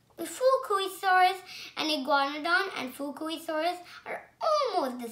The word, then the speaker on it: Iguanodon: This dinosaur is a iguanodon. I'm going to tell you how to pronounce it. Iguanodon.